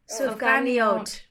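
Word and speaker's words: sufganiyot: pronounced Sofga Niot. Sufganiot.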